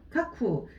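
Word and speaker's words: 架空: 쿠라고 읽으셔야 돼요. 카쿠.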